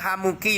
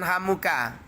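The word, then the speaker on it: حموكِ: Membacanya hamuki lo ya. Jangan hamuka. Kenapa kok hamuki ini tidak boleh dibaca hamuka? Sebab nanti kalau membacanya hamuka, nanti maknanya rusak.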